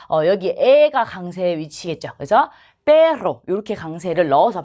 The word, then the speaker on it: perro: 그래서 perro 이렇게 강세를 넣어서 발음하면 되죠.